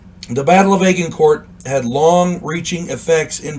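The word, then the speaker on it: Agincourt: o u r t I've heard it pronounced aen court and aan Court uh I'm going with aen court excuse me something to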